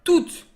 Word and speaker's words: toutes: Pronounced toutes. Of course, the final E, you do not hear it. The final E makes the T sound. And the final S, as very often, you don't hear it.